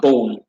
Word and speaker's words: boom: Okay, boom is pronounced boom. It's pronounced more flat, like German.